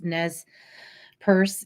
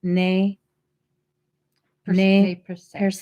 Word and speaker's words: Nez Perce: were developed by, and in the American English pronunciation, it's Nez Perce Indians. However, they are French Indian, so the correct pronunciation would be Ne per se. That's the French pronunciation.